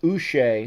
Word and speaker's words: Uche: Josh, I think his name would be pronounced Uche, who's a linebacker, is out.